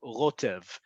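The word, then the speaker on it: רוטב: The word sauce in Hebrew, rotev.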